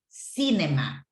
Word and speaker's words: cinema: The only thing that I will mention, remember that the correct pronunciation is cinema, right?